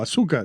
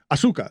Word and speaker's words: Azúcar: It's this beautiful stretch with Ball and Chain, with Azúcar, this amazing locally owned Azúcar. You say it like a gringo. Azúcar.